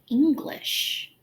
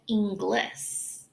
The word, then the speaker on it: English: I also hear the word English mispronounced, as it is usually said Inglis.